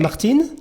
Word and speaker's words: Martine: Some people say Martine. Because it's written M-A-R. In French, the E is silent, but Martine. Yeah, because there's an E at the end. Right. In France, we say Martine, yes, but it's more a given name normally.